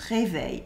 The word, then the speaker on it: réveilles: Here the S at the end of réveil is silent. It is the mark of the second person of the singular.